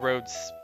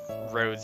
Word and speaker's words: Rhodes: think Lip has drawn Rhodes as a human before. I have it somewhere in the PMD files. Let me see if I can find it. It's spelled R-H-O-D-E-S. Like, Rhode Island.